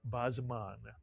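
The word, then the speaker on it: בִּזְמַן: Put the word together, you get Bazeman, Mitsuyan, a word you'll recognize from certain Hebrew blessings, Bazman.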